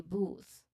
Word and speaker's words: booth: So despite that all those things, another pronunciation tip is that you make sure that you pronounce the final th sound.